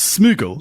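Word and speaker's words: smygel: The Old English noun for a burrow for a burrow is smuggle. Smuggle. Okay, that's right, because the Y is pronounced like the U.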